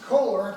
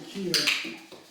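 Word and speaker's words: Koehler: believe it or not, a lot of people pronounce it Coler, but it's actually Keeler.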